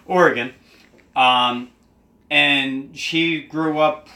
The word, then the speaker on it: Oregon: but Courtney comes from Oregon or Oregon or or again listen say it right Oregon um and she grew